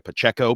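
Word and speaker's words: Pacheco: is Isaiah Pacho or as I say down my way in the New Bedford area it's pachico but we'll call him Isaiah Pacho because that's how he wants it pronounced um because universally as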